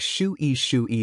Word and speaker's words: Shui: X is pronounced like shu, so Shui is like shu-yi said quickly, kinda.